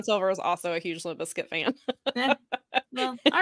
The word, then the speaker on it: Limp Bizkit: Limp Bizkit.